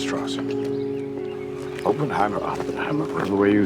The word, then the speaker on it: Strauss: Straws. It's pronounced Strauss.